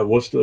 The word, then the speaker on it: Worcester: Yeah, Worcester is Worcester.